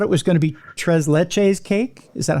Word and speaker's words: tres leches: It could be, I always thought it was going to be tres leches cake.